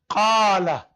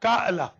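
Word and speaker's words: قال: Qala. It is not Qa'la. Qala.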